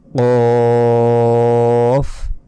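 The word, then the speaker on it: قاف: ফা ফা ফা তারপর কফ কফ এ অক্ষরটি আমরা যদি বাংলায় এরকম ক এর মত উচ্চারণ করি প্রথমে তাহলে কিন্তু ভুল হবে কফ নয় আরেকটু মোটা ভাবে উচ্চারণ করতে হবে দেখুন ফার মতোই উপরে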